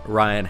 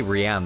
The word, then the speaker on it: Ryan: Hey, what is up, Ryan? I was gonna say Rian then, but I remembered, dude, that it's pronounced Ryan.